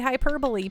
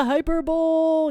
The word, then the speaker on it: hyperbole: be like no that's not how you say hyperbole Pand yeah dumy and I'd be like oh okay let's go to the hyperbowl yeah it's one of my very most uh